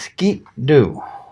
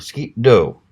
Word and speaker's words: Sgian Dubh: I am a Scottish apparently this is pronounced as skip do or skip Doh literally means black ninth